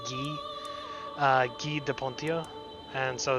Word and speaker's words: Guy: okay so i think the french pronunciation is ghee uh de pontia and